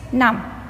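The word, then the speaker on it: numb: is silent letter next num num num the last letter B is silent in this word God God God word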